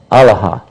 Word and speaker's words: Allah: he say allaha well he probably said uh allaha allaha it's a different pronunciation because because it wouldn't have the doubling or the shed on the lamp so it's kind of like a different dialect but the same word a same same word Allah allaha I I